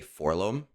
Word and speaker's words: 4-LOM: So, to me, I say Forlom.